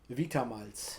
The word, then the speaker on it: Vita Malz: And So it was how do you pronounce that? Vita Malz.